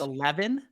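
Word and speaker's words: E11even: Dom um there's a club called 11 that's spelled E11 e v e n uh I think I've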